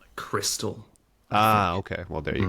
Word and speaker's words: Xtal: xtall or cross X it's X and then T I think it's supposed to come out like Crystal ah okay well there